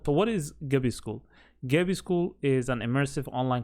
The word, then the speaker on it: Gabi: is duran it's pronounced gabi some people might say gabby but it's pronounced gabi so let's go through